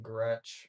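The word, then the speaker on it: Groetsch: the number one and then my last name Gretch which is spelled G R O E T S C H Do you not see it?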